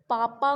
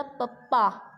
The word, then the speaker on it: पापा: यदि जैसे मैंने पापा को बोला पप्पा, तो आप लिखो, आप सुनोगे तो आप भी तो वही लिखोगे पप्पा, हैं, पापा थोड़े लिखोगे.